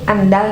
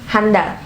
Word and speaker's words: andal: H Ketika menulis Ataupun mungkin mengucapkan disisipi bunyi Ah itu di depan huruf pertama kata tersebut yaitu andal dan imbau Ya kan